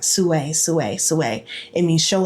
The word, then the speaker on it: SUAY: And in the dream, I just kept hearing like Sue, Sue, Sue. It means show up authentically you. Show up authentically you. It's spelled SUAY.